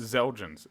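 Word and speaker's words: Xeljanz: it okay uh well I don't know if you're supposed to pronounce the X in this or not if so it's exogenes exogenes without it is elgins x-e-l-j-a-n-z hmm excellent chins elgians zelgens they're pronouncing it like a z I think X's are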